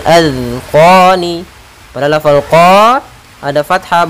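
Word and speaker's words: أذقان: Pada lafal zal jangan sampai mantul, jangan azqani atau az dengan zai, karena di sini zal kecil, azqani.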